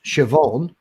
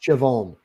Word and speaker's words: Siobhan: girl's name over here that's Irish and it's pronounced Siobhan but it's spelled si ob hitch air and that makes sense yep even phonetically phonetically it's a bomb but it's pronounced Siobhan ah whatever the B is silent yeah don't